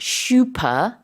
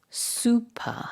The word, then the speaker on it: super: about this but um in English it's not shup it's super right and it's not that